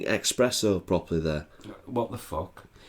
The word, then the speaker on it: espresso: not sure you're pronouncing espresso properly there what the it's definitely espresso it's spelt that way there's no x in it it's not italian and